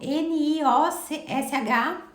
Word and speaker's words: NIOSH: Só que é sem o E no final, é o NIOSH e o H é mudo.